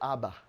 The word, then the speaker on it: Abba: If it's personal to you, you'll add a second bull, and then you pronounce it Abba.